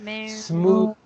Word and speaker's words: smooth: This next one, remember is an exception with a voice th sound. Smooth.